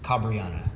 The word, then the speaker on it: Cabreana: well thank you ben cabriano how do you say how do you say your name how are you correct uh is kabriana cabriana yeah okay i've heard cabrianna